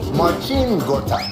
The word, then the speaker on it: Marcin Gortat: Marcin Gortat.